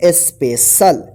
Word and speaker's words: special: स्पेशल, ठीक है। ध्यान रखिएगा कि सी के बाद IA या EA आता है तो इस सी का श उच्चारण कीजिएगा तालव्य श वाला, ठीक है।